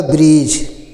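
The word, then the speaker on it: bridge: जी ई है तो डी को साइलेंट करते हैं जी ई है तो ज हो जाएगा ब्रेज ठीक है डी साइलेंट हो जाता है ी आर आई से ब्री हो जाता और डी साइलेंट होता है डी को नहीं बोला जाता है जी से ज हो जाता है ब्रिज और ब्रिज मीस होता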